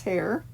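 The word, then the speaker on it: Hare: of its creator thomas hair so hair spelled the same way as rabbit hair h.r.e but it's for a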